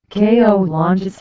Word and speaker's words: colonias: in 133 families in general colon is Spanish pronunciation KO launes are neighborhoods in Mexican cities which have no